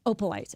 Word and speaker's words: Opalite: Opelite. Opalite. Okay. Because it's about opals.